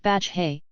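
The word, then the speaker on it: Batlle: It started with the president called battle, pronounced Batch Hay.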